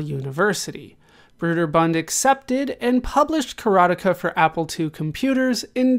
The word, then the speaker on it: Karateka: Karateka. That's how I'm going to say it. It is the American pronunciation as far as I can tell.